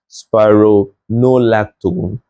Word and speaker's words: spironolactone: But if you take your time, you see that it's pronounced as spironolactone and amiloride.